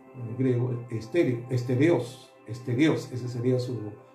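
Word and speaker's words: στερεός: Pero en realidad debe pronunciarse en el idioma original griego estéreo, estereos. Esterios.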